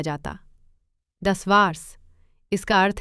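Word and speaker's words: das war's: इसमें अक्सर अपॉस्ट्रोफी लगाई जाती है क्योंकि ए अक्षर का उच्चारण नहीं किया जाता। दस वार्स इसका अर्थ है बस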